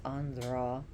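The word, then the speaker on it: Andhra: to say it right a n d h r a so it's a soft D it's Andra prish and uh the Shri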